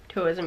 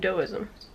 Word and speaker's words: Taoism: Taoism is actually, even though it's a T, they pronounce it dough, as in Taoism.